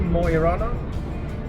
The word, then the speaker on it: Mo i Rana: We are not far from stop number 2, Mo I Rana.